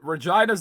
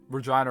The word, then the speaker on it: Regina: Why does Regina rhyme? Yes, yes. It rhymes with the funny vagina word. Technically, the pronunciation is Regina, because it's the Queen City.